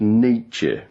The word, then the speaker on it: Nietzsche: Kneeshaw is a philosopher Frederick neechal I think that's pronounced Nietzsche [